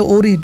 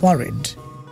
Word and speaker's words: worried: না don't get ওয়ারিড এটা বাংলাদেশে অনেকে বলে ওরিড ওরিড কিন্তু রং উচ্চারণ ইজ ওয়ারিড কে বলছো এটা ওয়ারিড ওয়ারিড রাইট এরপরে ঋতিকা